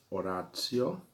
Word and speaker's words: oratio: Oratio é a pronúncia, que é a junção de duas palavras, que vem de oris, os oris, que significa boca, e axio, que significa ação.